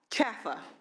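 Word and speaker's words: CHFFA: Liebert, how do you pronounce the acronym for the agency? CHAFA.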